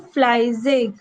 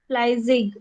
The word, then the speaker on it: fleißig: Und Und ich bin fleißig. ich bin fleißig.